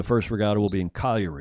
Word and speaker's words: Cagliari: cargo to calgary it's it looks like Cagliari init at in english but in in Italian it's Collier a CAG Li a RI and then after that